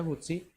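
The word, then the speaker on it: Houthi: Namun oleh pemberontak suku Hutsi atau Huti, dibacanya Hutsi, dia ditangkap gara-gara menyelundupkan Taurat yang berusia 800 tahun ke Israel.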